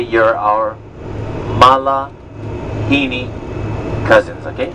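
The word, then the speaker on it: malihini: We like to say you're our Malahini cousins, okay? How many syllables? Malahini. Syllables? 4. Malahini. Okay, the word is pronounced Mala and then Hini.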